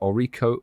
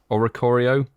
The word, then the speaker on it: Oricorio: 8pm your local time i can't pronounce that orico oricari or ricarello oricorio there we go thanks in makes